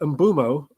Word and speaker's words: Mbeumo: we found out that Mbeumo or Mbeumo, how do you say it? Mbeumo. Mbeumo. I do Mbeumo. Some people say Mbeumo, or some people just say Bumo, I think. I say Mbeumo.